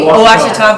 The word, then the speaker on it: Ouachita: Okay, Ouachita Baptist.